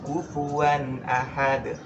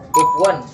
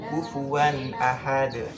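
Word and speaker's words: كفوا أحد: Di dalam Al-Quran ini kita bacanya itu mengalir santai, tenang, kecuali pada huruf huruf ini, pada huruf hamzah. Jadi tanpa kita dalam Al-Quran itu bacanya mengalir.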